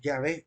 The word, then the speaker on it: Yahvé: Le corregí a la compañera que la manera más correcta es Yahvé y no Jehová, por lo que voy a explicar a continuación.